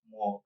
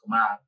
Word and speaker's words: Kamal: People say they pronounce it Kamal, but it's really pronounced Kamal.